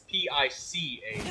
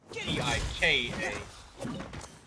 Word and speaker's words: pika: Yeah, and I think it's PICA, not PIKA.